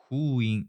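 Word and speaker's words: ふういん: 썬 앱스 발음이 줘 그 다음에 일본어는 후인 이렇게 됩니다 후인 이는 똑똑한 내가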